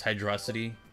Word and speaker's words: Hydrocity: Okay, I pronounce it. It's Hydrocity.